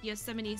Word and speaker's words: Yosemite: pronouncing the word pronouncing Yosemite I had to think of it like really hard I had to think about like the way that Yosemite Sam was pronounced in the cartoon um because if I